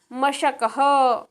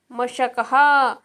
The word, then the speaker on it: मशकः: मशकः मशकः श तालव्यः।